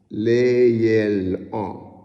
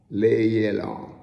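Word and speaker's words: לילה: Layel-la. Layel-ah. That's what it's pronounced.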